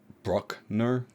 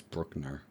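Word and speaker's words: Bruckner: elath v d and I thought Theodore brockner I thought that was his last name but is Brookner which I feel like Brookner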